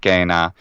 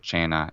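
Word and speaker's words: cena: use is the classical restored classical pronunciation of latin which would say kena and gemma instead of china and gemma um and but i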